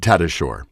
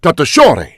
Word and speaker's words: Tatasciore: he said and i'm the american pronunciation is fred tatashore but my spelling is t-a-t-a-s-c-i-o-r-e and william shatner looks at he goes no no his name is fred tata and i was just and that's the pr that's the right pronunciation oh really and i